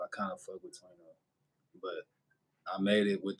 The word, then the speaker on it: Twano: Oh, and for y'all that don't know, I pronounce my stage name. If you would call this a stage name, it's Twano and not Twano.